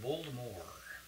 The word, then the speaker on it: Voldemort: Rowling, author of Harry Potter, told us this week that we've been pronouncing Lord Voldemort incorrectly, that it should be with a silent T, Lord Voldemort. French silent T.